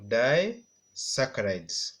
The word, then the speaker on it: disaccharides: ones include the monosaccharides I want you to pronounce with me mono saccharides then then we have die saccharides all together die saccharides then we have only saccharides everyone holy Socrates so we have three monosaccharides disaccharides and polysaccharides so this classification or this categorization